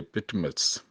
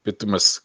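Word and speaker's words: Patmos: यूनान के एक जजीरे पेटमस इसे मुख्तलिफ तरीके से बोलते हैं, आई मीन इसको प्रोनाउंस करते हैं, पितमस का जजीरा।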